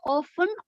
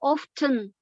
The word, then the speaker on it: often: often we should pronounce often or often okay for often and often it's it's more like both are correct more like UK and American way of pronunciation so for Americans you